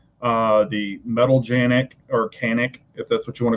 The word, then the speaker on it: Canik: i mean you know canik makes the metal or it's pronounced janic in their country but you know it